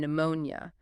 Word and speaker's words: pneumonia: Words like pneumatic and pneumonia. They came through Latin from the Greek word for wind or breath. Modern French speakers still pronounce the initial P, but English speakers abandon it.